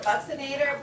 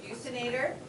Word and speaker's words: buccinator: I call it buccinator, but you can pronounce it buccinator.